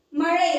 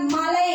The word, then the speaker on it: மழை: அடுத்தது பாத்தீங்கன்னா மழையை மழை அப்படின்றத மலை அப்படின்னு சொல்லுவாங்க. அந்த உச்சரிக்கிற முறை வந்து அவங்களுக்கு தெரியறது கிடையாது. அவங்க பேசுற முறையிலே தவறும் செய்றாங்க. மழைய மலைன்னு சொல்றாங்க.